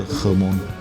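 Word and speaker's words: Hmông: 是读作，对，就是荷蒙。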